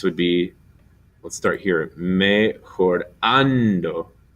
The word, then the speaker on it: mejorando: Mejorando. The accent on the an.